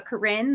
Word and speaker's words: Corinne: it's pronounced okay i i always pronounced it corrin and no one's corrected me since so um i just assume i'm right no i believe that's correct yes okay yeah i am